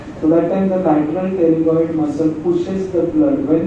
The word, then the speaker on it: pterygoid: Pterygoid what you have heard, lateral pterygoid plate, pterygoid plexus of veins, pterygoid plexus. P is silent, P pterygoid plexus.